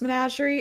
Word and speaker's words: menagerie: say I tend to mispronounce managerie it is pronounce managerie if I say it a different way ignore